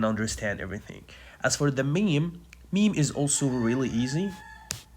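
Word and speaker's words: ميم: rooster so anyway the meme how to pronounce the meme so simply you just let the Two Lips come in complete contact without pressing you don't have to press just say m or mem m m okay simple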